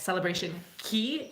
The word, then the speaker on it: Celebration Key: it should be pronounced you kind of can't rhyme day with key so anyway um thank you Carnival for actually calling it celebration key ke y so there's